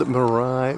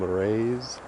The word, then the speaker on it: Marais: And this one is also on Lake Superior near Grand Marray, Minnesota. I think that's how you pronounce it. M A R A I S. And I don't think you pronounce the S. Maybe you do. Grand Marray.